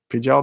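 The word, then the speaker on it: Pijal: also if you read master apprentice in pijao pidgeot that's how you say it they raised varactyls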